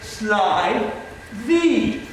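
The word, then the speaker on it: slithy: explain that point also pronounce slidey as if it were the words sly thee make the g hard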